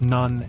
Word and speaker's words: None: None. Not none as in nothing, but none rhymes with tone, as in mid-after afternoon prayer.